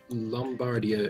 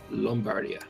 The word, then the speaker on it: Lombardia: Lombardia is pronounced with an O. It produces wheat as well, so it can make the pastry. Lombardia.